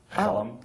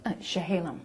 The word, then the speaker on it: Chehalem: Hallam? Chehalem.